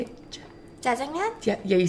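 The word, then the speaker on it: 짜장면: Jjajangmyeon?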